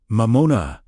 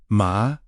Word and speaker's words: mamona: Take a slow, steady breath and gently speak the word Mamona, pronounced ma-moh-na, meaning wealth, material resources, or whatever becomes the object of one's deepest trust.